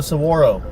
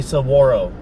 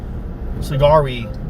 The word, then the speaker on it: saguaro: It's called a saguaro. Sagari, but saguaro.